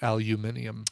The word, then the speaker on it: aluminium: good points I I I would like America to to uh to adopt The King's English pronunciation and call it aluminium I like that now